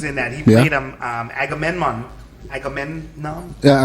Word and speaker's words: Agamemnon: Agamemnon? Yeah, Agamemnon.